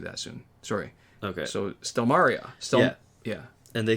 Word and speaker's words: Stelmaria: And then it's the FYI, it's pronounced Stelmaria, and I'm male.